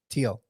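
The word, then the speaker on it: Thiel: the whole video apparently why do you have an H there bro yeah get rid of the H if you want say correctly come on ah so speaking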